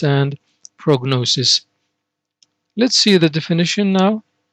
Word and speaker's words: prognosis: so this is the difference between diagnosis and prognosis let's see the definition now sorry not the definition the pronunciation diagnosis diagnosis diagnosis prognosis prognosis prognosis now